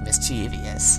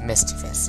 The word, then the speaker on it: mischievous: forever it sounded it I always pronounce it like mischievious so yeah I didn't get it it was mischievous and not mischievious yeah okay you would